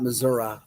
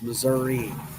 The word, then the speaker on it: Missouri: It's not Missouri, it's Missouri. The Missouri checked in at number eight.